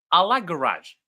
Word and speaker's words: Alagaraj: So the first exercise will be I will great you can pronounce my name as Alagaraj Alagaraj.